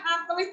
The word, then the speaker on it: atlet: Banyak atlet muda yang mengikuti kejuaraan olahraga di tahun ini. Penulisan ejaan yang salah ya anak-anak ya.